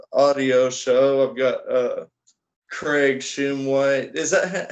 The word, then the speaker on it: Shumway: I've got Craig Shumway. Is that how do you pronounce your name? It's Shumway, yes sir, Craig Shumway.